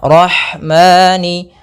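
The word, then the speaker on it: الرحمن: Ya, rahmani kemudian ada lafal ha. Roh ah. Alirkan nafasnya pada lafal ha. Karena di sini ada hukum tajwid berupa ee maaf ada sifat huruf ha yang itu sifat hames. Mengalirnya nafas.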